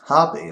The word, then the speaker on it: HB: got another German brand HB hary as the German pronounce it it's um it stands